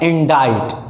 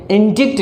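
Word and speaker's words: indict: इंडाइट। इसकी प्रोनाउंसिएशन पर ध्यान दीजिए, इंडिक्ट नहीं पढ़ना, इंडाइट।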